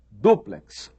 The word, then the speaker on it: duplex: Eles ensinam que quiçá quer dizer talvez, ensinam que a pronúncia correta é látex e ensinam que a pronúncia correta é duplex, triplex.